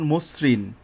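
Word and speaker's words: মসৃণ: টা দন্তন্য হয়ে গেছে আদ্য দুই নাম্বার নিয়মটা আদ্য অ এর পরে যদি ঋকার থাকে তবে অ এর উচ্চারণ ও এর মত হবে যেমন মসরিন বক্তৃতা তাহলে এই মসরিন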